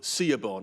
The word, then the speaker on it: Siobhan: You'd think there'd be a V in there, but it's spelt Siobhan.